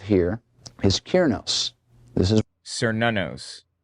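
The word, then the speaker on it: Cernunnos: It's Cernanos. How's it pronounced? Cernanos. Cernanos. Cernanos. That's how it's pronounced. Cernanos. Another interesting addition we have here is Kieranos. This is Sir Nanos, not Kieranos.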